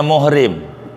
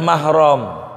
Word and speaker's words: mahrom: salah kita ngomongnya Hai orang kita suka nyebutnya muhrim Ini yang tukang-tukang ngomong nih Jangan sampai salah